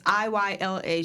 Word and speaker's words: Iyla: I've been listening to this Ayala. I'm not quite sure how to say her name. Ayala, Ila. It's Iyla.